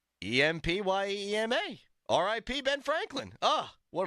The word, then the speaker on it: empyema: and the chest wall I thought that was empyema H sure she just didn't pronounce it right wrong yeah well there's no in there it's spelled em P ye m a dang we'd be dying